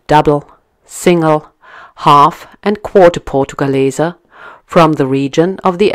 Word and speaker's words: Portugaleser: Well, the correct pronunciation would be portugaleser, meaning coins from Portugal.